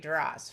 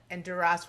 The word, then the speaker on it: Duras: The S is pronounced, which is considered kind of crude in the French language. And not just Francophiles, but even French people will sometimes say Duras. And Duras was Duras.